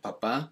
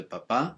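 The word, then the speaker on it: papá: as me baladi um be careful with papa make sure you kind of accentuate the last syllable because if you say papa it means potato now like i said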